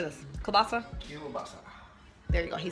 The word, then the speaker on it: kielbasa: Kielbasa?